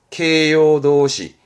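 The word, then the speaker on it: 形容動詞: 케요도시, 케요도시. 케요도시라는 건 보통 이제 일본어 공부하실 때 보게 되면 나 형용사라는 말을 하게 되는데 그 나 형용사, 그러니까 이 형용사는 케요시, 케요시.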